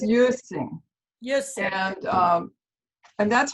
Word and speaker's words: Quisling: It's pronounced as Quisling. So I have to see if I Quisling. it right here. I don't have it right. No, I can see it. Okay. So it's Quisling. Quisling.